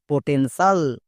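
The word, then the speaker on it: potential: ই এন পটেন টি আই এ এল সাল পটেনশাল বোঝা গেল আমরা আজকের ক্লাসের মাধ্যমে বানানো শিখতে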